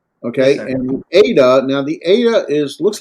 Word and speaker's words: eta: Okay, Yes, and the eta, now the eta looks like an N, an English N, but it's not. It's a vowel, and it's as in like an AY, as in eight, to eight.